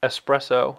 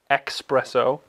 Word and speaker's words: espresso: is the espresso machine which is pronoun pronounced espresso not espresso you heathens uh not as sharp